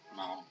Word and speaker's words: ma'am: So it is read as ma'am.